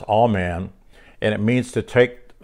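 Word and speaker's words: aman: which is a-m-a-n and it's pronounced all man and it means to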